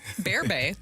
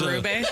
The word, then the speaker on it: Berube: Berube. Berube, yeah, I think It's that's French. the French pronunciation.